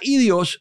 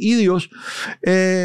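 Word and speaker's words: ἴδιος: Y usted se da cuenta aquí en el versículo 5, la palabra que se diría idios, se puede pronunciar así, transliterar así, idios, significa propio.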